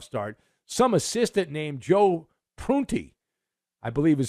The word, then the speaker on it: Prunty: when the playoffs start some assistant named Joe prunty I believe is how you pronounce his name he's the interim coach good